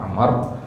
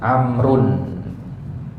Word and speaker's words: Amr: ya Amr Bin as jadi kalau kita ketemu nanti ada wau ahah itu bacanya Amar ya kalau enggak ada itu bacanya Umar nah bedanya Satu lagi kalau Amr itu pakai tanwin amrun ya ya pakai tanwin